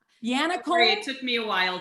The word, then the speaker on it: Yannaccone: Am I going to say your name wrong, Sue? Is it Yannaccone? Yannaccone? It took me a while too. It's Yannaccone.